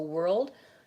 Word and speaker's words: world: to make sure that the difference is that the end of your word is clear you have a voiced D sound on world and work you have a voiceless K sound then lastly the word